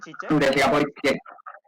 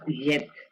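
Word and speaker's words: Žižek: ¿Así es como se pronuncia Zizek? Zizek. Es esloveno, Zizek, ajá, exactamente. Sí, esa Z como con cuernitos es Zizek. Es como una Y dura, ¿verdad?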